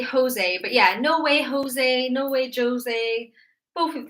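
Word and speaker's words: José: No, in English, a J sounds like J, but this is not an English name. Sorry, I should have explained this more. This is not an English name. We don't have this name in English. In English, I don't know, it would maybe be like Joe or something. But because we want it to rhyme with way, it's kind of just an idiom we've used.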